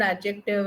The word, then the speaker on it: adjective: It's not completely silent, but you don't even put a lot of emphasis on it.